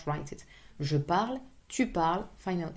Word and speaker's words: parles: So parler, you would say je parle, tu parles, il parle. As you can see, it's the same pronunciation.